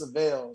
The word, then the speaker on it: Syvelle: called the seville yeah and my name is savelle so you know a lot of times you know the pronunciation of my name was always mixed up